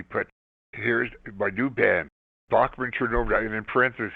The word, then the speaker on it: Bachman: And in our first bio, he put here's my new band, Bachman Turnover. And in parenthesis, he put how to pronounce it, B O C K M A N.